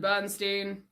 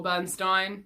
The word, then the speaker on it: Bernstein: is by the incomparable leonard bernstein or bernstein depending on where you're from and how you pronounce the name the lyrics by steven